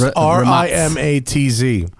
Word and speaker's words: Rimac: Vermont Rumaki point Zac it's pronounced RI ma TZ remotes yeah that's yeah